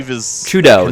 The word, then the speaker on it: Trudeau: Trudeau? Is that how you pronounce it, or? It's kind of like the Trudeau, bow way. Trudeau, there you go. It'd be like a bow, yeah. B-E-A-U. So, dough. Trudeau.